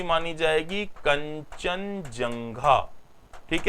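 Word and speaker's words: Kangchenjunga: कंचनजंगा। तो भारत की दूसरी सबसे ऊंची चोटी जो मानी जाएगी, ये कौन सी मानी जाएगी? कंचनजंगा।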